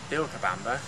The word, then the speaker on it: Vilcabamba: Now Vilcabamba, as it's pronounced in Spanish, Vilcabamba is known, or was known, as the Valley of Longevity.